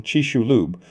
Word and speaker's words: Chicxulub: In 1991, Hildebrand, Penfield, Boynton, Camargo, and others published their findings identifying the Chicxulub crater. Named after the nearby town, its pronunciation, Chi-shu-lub, was a playful jab at skeptics who had dismissed it for years.